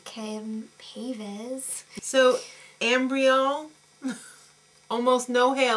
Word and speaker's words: Ken Paves: So they went to the Ken Pave salon. And Tyra didn't even know how to say his name correctly. Ken Paves.